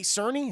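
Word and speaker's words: Czerny: a weird place of this specific character Henry Cerny is how you say his name Henry Cerny he returns as Eugene kittrich um you know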